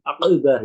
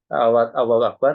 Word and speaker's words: Akbar: songwan ya jangan merusakur takirat Allah menjadi Wah Akbar menjadi akar Itu juga salah itu merusak ya gak boleh itu ya Akbar harus diucapkan e tidak boleh merusak atau merubah satu huruf dalam kalimat ul ihram A